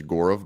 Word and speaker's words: Gaurav: I believe the correct pronunciation is Gaurav, but he kind of Americanized it a little bit.